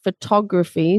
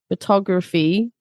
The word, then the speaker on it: photography: But then you have photography, stress on the tog, photography, like the hobby or the skill, and photographer, the person. So the stress is on the tog, not the foe.